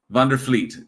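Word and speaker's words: Vander Vliet: So that that V is like an F. Yes. Okay. Vander Fleet.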